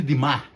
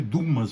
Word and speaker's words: Dumas: vez mais forte moçada a obra de Alexandre dimar que a turma fala Alexandre Dumas mas Alexandre dimar tá eu não saco francês não mas eu sei que isso aí é assim lá então essa obra aí